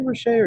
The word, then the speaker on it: Rocher: You say Rocher, or you said you pronounce it slightly differently than I? No, you said it.